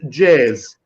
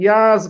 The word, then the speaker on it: Jaz: the longest beach uh close to budva named jazz we pronouncing yes but usually the foreigners pronouncing jazz there are